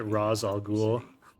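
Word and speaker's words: Ra's al Ghul: got it right did not get he did pronounce it raal ghoul I need to track him down and it's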